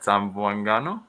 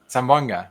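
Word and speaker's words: Zamboanga: I want to go home, but uh yeah, they're down in uh I can't ever pronounce it right. Sambango. Sam Sambanga. Sambanga.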